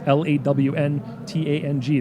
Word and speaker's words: Lanteigne: My Instagram is Lanteigne, so it's LawnTang, the way you pronounce it essentially.